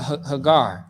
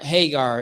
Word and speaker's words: Hagar: was telling you know uh haar all right so or Hagar is how you say it okay so with that